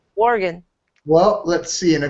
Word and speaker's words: Oregon: See, I said it right, Oregon.